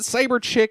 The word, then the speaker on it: Cyber Chic: I believe you pronounce it Cyber Chick, even though it is C.H.I.C.